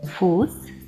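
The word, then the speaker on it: Fuß: Літера СЦ пишеться в кінці складу по слова після довгих голосних та буквосполучень ЕІ, ЕУ, АУ і читається як звук С. Фус, Вайс, Гроз.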